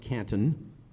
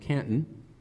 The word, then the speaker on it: Canton: of my hometown, because you don't pronounce it Canton, it's pronounced Canton.